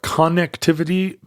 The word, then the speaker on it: connectivity: way of pronouncing it you're mad that I didn't say connectivity like con like Connecticut connectivity yeah that that much more common pronunciation Hartford connectivity so wait was online already